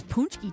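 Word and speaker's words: pączki: I'm getting corrected correct correct pronunciation is punchki not punch and it always goes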